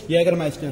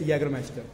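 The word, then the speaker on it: Jägermeister: how you pronounce it Yager Meister Jager Master yag Master the spelling is starts from the J but the pronunciation is Yager master so Yer Master we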